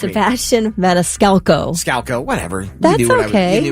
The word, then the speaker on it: Maniscalco: Dang it if you don't say his name wrong every time. I'm sorry. Go ahead, please, correct me. Sebastian Maniscalco.